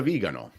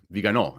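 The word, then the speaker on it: Viganò: Hall Archbishop Carlo Maria vigano viganot if you were pronounce it properly the emphasis the emphasis is on the last syllable has come out in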